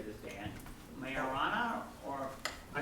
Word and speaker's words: Majorana: So people either say Majorana or Majorana. It's actually Majorana. It's not marijuana, which is the temptation.